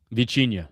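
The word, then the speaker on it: Vitinha: Um, this is another player, Vichia. Portuguese. That's how they pronounce it. Vicha. Yeah. So, the T has a little ch in like Yeah. Oh, yeah. Yeah. Portuguese is like a ch.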